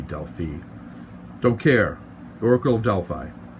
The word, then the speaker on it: Delphi: want to pronounce it I say Delphi but I think the official way might be Delphine don't care Oracle of